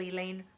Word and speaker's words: Elaine: scared I can handle Elaine rhymes with pain if you don't say